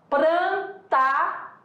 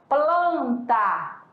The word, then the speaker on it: plantar: No campo fonológico, né, da pronúncia, nós vamos ter, por exemplo, prantar, olha lá, prantar, em que, pela língua portuguesa, a pronúncia seria plantar. Não com R, mas sim com L.